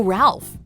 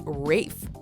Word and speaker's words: Ralph: but this is no Ralph as the English actors name is Rafe furthermore Rafe's last name